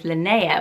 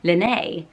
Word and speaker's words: Linnea: much of it but I didn't realize it was Linnea which sounds so much more gorgeous interestingly enough reading forums there are some people on a forum called Linnea who pronounced their own name Lynnae as in Rene and so that's super